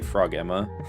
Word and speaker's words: Frogema: Some people say Frog Emma, which is funny, and I guess technically correct.